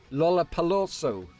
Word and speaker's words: Lollapalooza: Lollapalooza. Lollapalooza. Lollapalooza. I think you pronounce it.